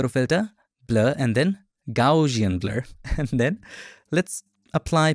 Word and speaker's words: Gaussian: Gaussian. I know I pronounce it wrong. It should be Gaussian.